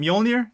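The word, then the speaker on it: Mjölnir: Is it Mjolnir? Am I pronouncing that right?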